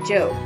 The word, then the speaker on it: Job: going off to her job which in the bible is pronounced job remember that the one